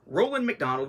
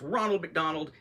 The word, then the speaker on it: Roland McDonald: art from Tyler Johnson Roland McDonald which I swear in the last one I think I mispronounced as Ronald McDonald but you can see